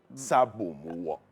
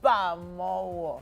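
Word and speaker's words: Sobamowo: Sabo Mowo. How do you pronounce that? Shobamowo. Okay. Gotcha. Shoba Mowo. Yes.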